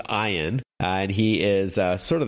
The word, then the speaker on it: Ian: and say that he's one of he is iein in the show or Ian if you see it how it's spelled out I am but pronounced I on and he is sort of the head of